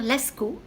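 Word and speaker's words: Laskow: Il y en a un du docteur Lascaux, ça s'écrit L-A-S-K-O-W.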